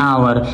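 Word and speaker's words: hour: There car does 150 miles an आवर। अब यहाँ पे आवर क्या है, यहाँ पे ये आवर सिंगुलर है और ये वॉवल से स्टार्ट हुआ है, क्योंकि यहाँ पे एच साइलेंट है।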